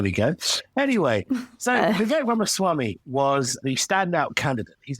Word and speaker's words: Ramaswamy: But the one I want to talk about, and this is my hot and spicy takeaway, is fellow Brownman, Vivek Ramaswamy.